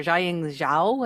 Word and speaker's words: Jiaying Zhao: Xiing Xiao.